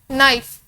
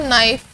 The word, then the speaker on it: knife: नाइफ, KNIFE, नाइफ, के silent sound है तो नाइफ, एन से स्टार्ट हो रहा है, एन कॉन्सोनेंट है।